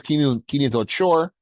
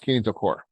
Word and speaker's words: kinetochore: I know it looks like it says kinetochore, but it's pronounced kinetochore, okay?